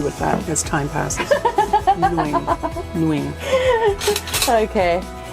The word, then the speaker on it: Nguyen: We say Wens, and it's not that. Nguyen, Say it again.